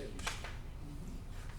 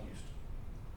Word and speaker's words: Houston: It's just, I like to ask people about that because you can tell if you're not from here if you say Houston. I know the city in Texas is called Houston, after saying Houston.